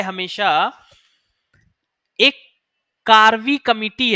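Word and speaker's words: Karve: आता है हमेशा एक कार्वी कमिटी है कार्वी मैं स्पेलिंग साथ काव्या नहीं कार्वी है कार्वी है हां कार्वी है सी एन के ए आर व आई कार्वी कमिटी है जिसमें जिसने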